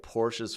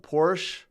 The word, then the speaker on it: Porsche: congratulations I don't like Porsche's front end I love Porsche or Porsche however you want to pronounce it their backends are fantastic